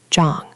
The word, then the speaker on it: Zhang: That's retroflex, Zhang with the curl.